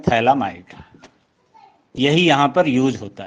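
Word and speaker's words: Phthalimide: Is named reaction Gabriel थैलामाइड reaction. तो Gabriel थैलामाइड reaction क्या होता है? एक चीज है, देखो यहाँ पे फोर्थ मेथड है हमारा गैब्रियल, GABR, गैब्रियल थैला, PH साइलेंट रहता है, गैब्रियल थैलामाइड रिएक्शन।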